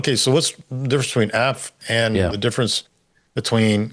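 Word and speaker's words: אף: It's just like it's pronounced af.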